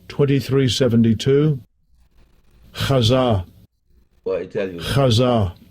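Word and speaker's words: חָזָה: It's pronounced like this, Hazah, but it's spelled.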